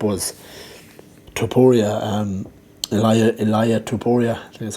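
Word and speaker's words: Topuria: that stood up was taporia and elia elia tuporia that's how you pronounce it um yeah no one else will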